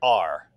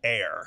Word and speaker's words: are: point is you could take a word like R, like you are going to the store, A-R-E. If you went with the normal rules of pronunciation, that would look like air, because you've got an E on the end, so it would look like air, but air is spelled A-I-R and so on.